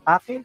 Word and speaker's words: Pakil: Ano po ba ang tamang pronunciation dyan, Ma'am Rosemary? Pakil, Pakil. Opo.